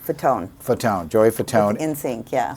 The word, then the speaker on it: Fatone: Fatone.